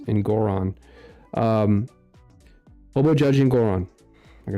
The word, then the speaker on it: Engoron: I haven't said Hobo Judge's name in a long time, so I forgot how to pronounce it again. It's Engoron.